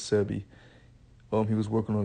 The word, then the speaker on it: Sebi: Dr sebie I think I believe that's how you pronounce it Dr sebbi or cie I believe it's sebbi um he was working